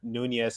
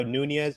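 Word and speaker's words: Núñez: go uh shout out to Liverpool I had Nunes on FIFA he's uh he scored two goals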